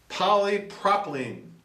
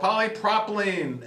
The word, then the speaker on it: polypropylene: of uh uh uh I hope I pronounce this right polyproplene there you go polypropylene and it's a thermoplastic polymer